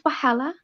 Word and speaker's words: wahala: What is wahala? Wahala is drama. Wahala is problems. Wahala. Can you spell that for me?